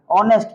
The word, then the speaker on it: honest: लेकिन उसको हॉनेस्ट पढ़ोगे तो भारत का ही तुमको टीचर या फिर जो जानकार है इंग्लिश का वही तुमको बुड़बक कर देगा। इसीलिए इसको ईमानदारी से क्या पढ़ना है, ऑनेस्ट पढ़ना है भी ईमानदार, है कि नहीं।